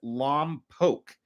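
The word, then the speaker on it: Lompoc: Oakla, you pronounced it correctly. It is Lomb Poke.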